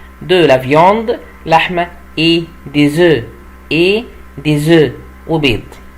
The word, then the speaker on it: œufs: طبعا هنا ليه بقول ديز؟ عشان الاس بعديها ان فويل بنطقها زد وما بنطقش لا الاف ولا الاس في اخر الكلمه، عشان كده بقول ايه ديزو.